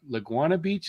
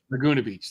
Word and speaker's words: Laguna Beach: forget that Bay laguana laguana Beach is that how you pronounce it is it Laguna Beach Laguna Beach that's it okay yeah so we